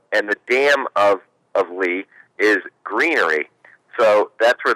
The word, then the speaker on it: Lea: after the broadcast and he said that it is pronounced lee as an l-e-e it is a term for a meadow and the dam of of lee is greenery so that's